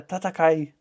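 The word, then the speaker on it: 戦え: Yeah, Tatakai.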